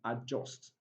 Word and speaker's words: adjust: Now from the pronunciation of that word, you discover that letter D is not pronounced silent, handkerchief. Sandwich, sandwich. Adjacent, adjacent. Adjoin, and adjust.